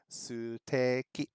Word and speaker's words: ステーキ: They have literally taken the word steak.And because they're using Japanese characters to say it, the closest pronunciation is suteki, steak.